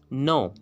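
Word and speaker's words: know: अब देखिए रूल क्या है, रूल ये है कि अगर एन से पहले क्या आएगा तो जो वर्ड के है वो साइलेंट हो जाएगा।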